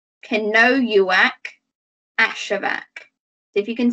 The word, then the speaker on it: Kenojuak: ashevak so the jeff the j in her first name you don't make the j sound we make a yi sound can know you wack ashevak see if you